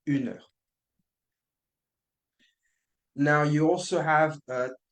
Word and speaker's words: un: pay attention to right don't say an it's un now you also have